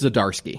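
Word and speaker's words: Zdarsky: my god say his name i think it's zadarski yes you're exactly right that's how you say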